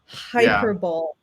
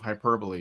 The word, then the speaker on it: hyperbole: Hyperbolt. He used to say hyperbol instead of hyperbole.